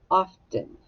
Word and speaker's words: often: But it's not the words of 10. It's often. Often. It's pronounced differently.